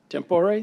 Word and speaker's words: tempore: Tempore, is that how you pronounce that, Chris? Tempore, thank you, Chris, of the Gilbert Municipal Court.